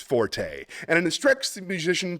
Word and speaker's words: forte: specialty or strong part strong point is not pronounced ounc Forte got that it's pronounced Fort the Italian word Forte used in music notation is pronounced Forte and it instructs the musician to play loud